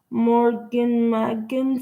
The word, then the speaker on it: MORAGAIN MAGAIN: Boss Nation fans, both in the record labels and not more again, but I pronounce it Morgan and Megan spelled M-A and then the word again.